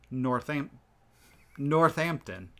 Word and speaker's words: Northampton: this i am because we keep saying north hampton but it's one word with one h so i believe it's northam northampton there's no second h right so would just